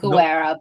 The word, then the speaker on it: Guerra: Yeah, it's Guerra, but it's good and it's good in the way that I know that I pronounce it very accented, so you're all good.